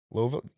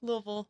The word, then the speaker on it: Louisville: Louisville? That's how you say it? Louisville? Louisville. If I say Louisville. No, you don't say it like that.